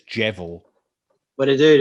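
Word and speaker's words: Djevel: band like emperor faust i don't know how to pronounce it i'm not norwegian but d j e v e yeah that is probably one of the most interesting i think it's i think it's jevel but it dude it's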